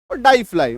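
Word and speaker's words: deify: आही समझ में तो डाई फलाई डे फाई इसका सही उच्चारण है डाई फलाई मतलब देवता बन जाना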